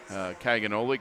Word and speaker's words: Caganoli: PA announcer, and Edwan Caganoli, because he wanted us to make sure we had that right, and he kept telling us different ways to say it. And I said, okay, rhymes with cannoli.